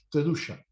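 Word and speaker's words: קדושה: Por ello, debemos recordar que santidad es el significado de la palabra hebrea que se pronuncia kedusha.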